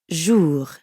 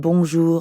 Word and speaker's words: bonjour: Notice how the J in bonjour sounds a lot like the middle of the English word measure? Je. Je. Bonjour. And the R at the end of jour doesn't really sound like an English R. You should feel that R in your throat. Jour. Yeah, almost like you're gargling or clearing your throat.